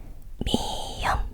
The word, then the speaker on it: 미음: ㅁ âm [m] tên của cái này[ㅁ] là 미음 tiếp theo ㅂ âm [b] tên của cái